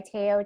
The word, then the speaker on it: Tayo: again for having me my name is teo my full name is tanya i'd rather go by taiyo just because it's easier for everyone to pronounce i am a senior